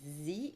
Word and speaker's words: Sze: So her last name is pronounced Z, but it's written S-Z-E, correct? Correct. Z, okay. So it could have been just the letter Z. Exactly. It's pronounced like the letter Z.